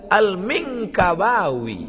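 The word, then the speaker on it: Al-Minangkabawi: Saya masa tengok apalah cara baca ni, alif lam mim nun kaf ba alif waw ya, rupanya lama saya baca Al-Minkabawi, Minangkabau.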